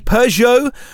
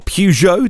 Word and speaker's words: Peugeot: That would be Peugeot or Peugeot, depending on how you say it, Citroën or